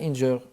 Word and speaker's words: Inger: en scène montréalaise Maria Inger. C'est ça? Inger, pardon. Ouais. Maria Inger. C'est prononcé en anglais, excellent.